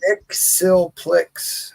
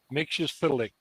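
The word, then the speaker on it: Mxyzptlk: look at the old Action Comics where it pronounces it for you one time here's what it is Nick sillick no I'll show you how mix and p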